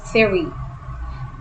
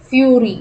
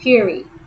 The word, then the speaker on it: theory: man it's pronounced as theory theory it's not fury it's theory okay next situated situated